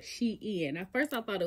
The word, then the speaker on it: SHEIN: it was print out Shin I've been pronouncing it Shin okay my dolly sis said uh on Cena it's called she in like she and then in like she and girl she in I was like oh